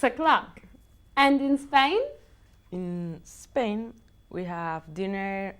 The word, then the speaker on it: Spain: In Like a snake, okay? Spain. I don't want to hear Spain.